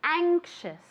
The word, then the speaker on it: anxious: say this very good careful with the pronunciation okay anxious anxious the a is is very is very nasal okay anxious okay with an sh sound anxious one more time very